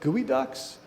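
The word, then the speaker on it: geoduck: were harvesting something called gooey ducks. Um, if you are not sensitive, you can put into Google image search gooey duck, which is spelled geo duck, all one word, and you will find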